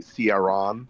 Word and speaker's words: Ciaran: Henri, I don't want to embarrass you, but you've been pronouncing your character's name wrong. It's actually Ciaran.